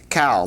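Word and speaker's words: qal: form of the Hebrew verb is known as cowl. That's spelled q a l.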